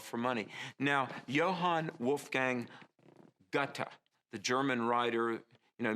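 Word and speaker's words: Goethe: money now johann wolfgang gutta the german writer you know many people pronounce his name geth but it's really like gutta he said this about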